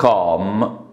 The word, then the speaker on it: calm: Students need calm atmosphere، بيحتاجوا calm اللي ما تنطقش، اتموسفير، بيحتاجوا مناخ هادئ،